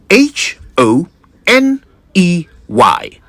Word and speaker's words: honey: I say I first I'll spell it h o n e y honey not honey the H is not silent it has never been and I'm really not